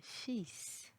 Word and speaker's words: fils: Il y a des exceptions pour les fins des mots où le L n'est pas prononcé. Exemple, fusil, un outil, un fils.